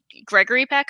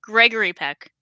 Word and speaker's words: Gregory Peck: If I think Gregory Peck, I said it wrong. Gregory Peck.